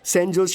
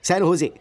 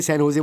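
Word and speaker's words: San Jose: Oh sorry sorry sorry sorry sorry, सैन होजे, SANJOSC, इसकी spelling यही है ना, लेकिन इसमें जे साइलेंट रहता है, इसलिए इसे सैन होजे बोलते हैं।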